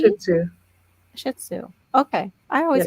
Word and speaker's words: Shih Tzu: Where do you no T or yes T in there? Shih Tzu. No T. Shih Tzu.